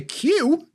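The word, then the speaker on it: queue: And then he got to Q, as in to line up. And he's like, that's just 1 letter. I'm not having that. Q-U-E-U-E.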